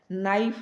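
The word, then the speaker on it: knife: जैसे हम लिखते हैं KNIEF, नाइफ लिख दिया। में के साइलेंट है, के क्या है, साइलेंट है।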